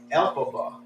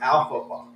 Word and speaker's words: Elphaba: Her name is actually Elphaba, and I was calling her Alphaba. I was calling her Alfalfa.